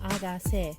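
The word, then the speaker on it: 아가새: When pronounced in Korean, I Got 7 sounds like the term agase or Agase.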